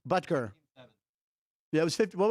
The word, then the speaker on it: Butker: Butker. Butker.